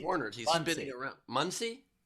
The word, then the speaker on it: Muncie: Muncie? Pronounced Muncie.